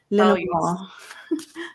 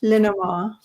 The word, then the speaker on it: Lenormand: It's Lenormand. Lenormand. Lenormand. You don't really pronounce the D. Lenormand. Lenormand. Lenormand. I guess we're not really supposed to say the D.